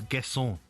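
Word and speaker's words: Guessand: I'm going to tell you, you don't pronounce the D. So it's um Guon Gon. See, all Villa fans know this. It's Gason.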